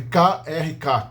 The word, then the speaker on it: Krk: que é o nome italiano da ilha de Krk atual. Essa ilha aqui se escreve K-R-K, Krk.